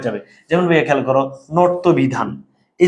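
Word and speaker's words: ণত্ব বিধান: বলো বানানে ইয়, উচ্চারণে দন্তন্য হয়ে যাবে, বানানের মূর্ধন্য, উচ্চারণে দন্তন্য হয়ে যাবে, ইয় দন্তন্য হয়ে যাবে, মূর্ধন্য দন্তন্য হয়ে যাবে। যেমন ভাইয়া খেয়াল করো, নর্ত বিধান, এই যে মূর্ধন্য আছে,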